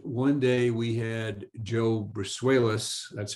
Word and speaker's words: Brusuelas: And one day we had Joe Brusuelas, that's how he pronounces it, the chief economist for RSM, talk about the world's economy.